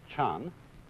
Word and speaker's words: Chan: And that is the Japanese way of pronouncing the Chinese word Chan.